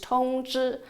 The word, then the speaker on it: 統治: I almost laughed at this “coincidence”, as in the Chinese language, the pronunciation of “rule” and “notify” is almost exactly the same. “Rule” in Chinese is “Tongzhi(統治）”，“notify” in Chinese is “Tongzhi(通知）”.